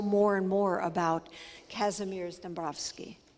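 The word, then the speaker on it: Dąbrowski: and more about casimir's dombrovsky lots of ways to pronounce his name that's the Polish way that it's people say Dombrowski so he was both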